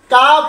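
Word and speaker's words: calf: এই জন্য আমরা সর্বক্ষণের জন্য এই দ্বিতীয় ক্লাসটা অবশ্যই আমরা সবাই খেয়াল রাখবো যে কোনো শব্দের শেষে যদি KFM থাকে, তার আগে লেটার যদি এল হয়, তখন এল সাইলেন্ট হয়ে যায়। কাপ, হাফ, কাম, ফক, এইরকম অসংখ্য লেটার বইয়ের মধ্যে অসংখ্য লেটার লুকানো আছে।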